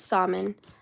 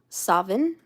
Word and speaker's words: Samhain: They said the Scots, or however you want to say the Scottish people, pronounce Samhain as Samhain with a V, and the Irish represented it as Samhain.